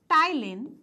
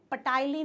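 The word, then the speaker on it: ptyalin: Is also known as टाइलिन, ठीक है, पटाइलिन नहीं, पी साइलेंट, टाइलिन, ठीक है, टाइलिन।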